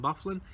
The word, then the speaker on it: Byfuglien: goals for Winnipeg were Stastny like I said Byfuglien with two Trueba Tanev wheeler town oven wheeler